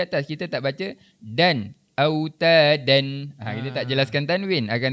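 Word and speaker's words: أوتادا: Jadi kalimah terakhir ni cara bacaannya dan cara berhentinya autada. Cuba autada.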